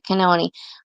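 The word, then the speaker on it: Cannon: important um judge kon's do you pronounce her last name kenon or Canon can I think kenon the way you said it I think you said it correct okay kenon her ruling on the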